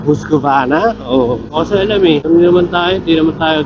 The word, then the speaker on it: Husqvarna: Husqvarna. Silent R, Husqvarna.